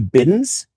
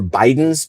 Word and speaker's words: Bidens: Um, maybe some Bidens or Bidens, depending on how you want to pronounce it.